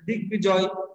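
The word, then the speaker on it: দিগ্বিজয়: আমরা আবারও বলছি যে সন্ধিজাত শব্দ বা সন্ধি যুগে উৎপন্ন শব্দগুলোতে যদি ব ফলা থাকে তাহলে সেই ব ফলার উচ্চারণ কিন্তু হয় বা উচ্চারণ বজায় থাকে।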